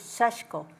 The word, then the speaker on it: sashiko: in there sash but it's more like I is silent close to silent so Japanese people say it's sashko so okay sashko is